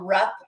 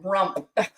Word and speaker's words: Rupp: It's called Rupp Arena. It's R U P P. It's actually one of a a long time ago one of a really successful coaches was That was his last name. But Sam for years called it rump.